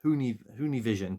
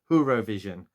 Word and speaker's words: Whovision: I nearly said Whonivision, but it's not. It's Whovision.